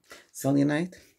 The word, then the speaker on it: selenite: Selenite.